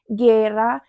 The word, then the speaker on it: guerra: We don't pronounce the u because it doesn't have accent. Some other examples are guerra, guiso, águila.